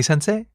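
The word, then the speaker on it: 先生: But the last sound is pronounced e. It's a long vowel, right?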